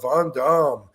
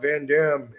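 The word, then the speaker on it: Van Damme: different ways you know a lot of people would say jeanclaude vam and then other people would say jeanclaude vanam and I guess I liked the the vanam better you know eventually I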